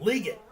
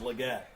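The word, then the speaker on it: Legette: Ligon. It's Leggett.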